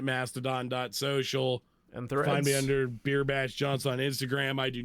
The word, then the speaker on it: B33rbashJawnson: Yourself real quick yeah my name is beerbash Johnson it is uh is spelled with threes instead of e's in the beer bash and John is spelled j-a-w-n other than that it's all one word that's a little excessively complicated